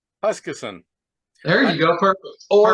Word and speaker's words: Huskisson: I pronounce this correctly. I apologize. Huskisson. It's Huskisson.